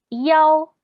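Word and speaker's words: 幺: El número 1 tiene una pronunciación alterna, que es yao, y suena similar a la de la palabra querer, yao.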